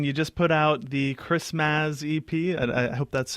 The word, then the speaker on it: Christmazz: I mean, you just put out the Christmazz EP. I hope that's how you pronounce it?